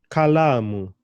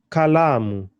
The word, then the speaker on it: kalamu: kalamu, pen, kalamu. And here my emphasis is on the la.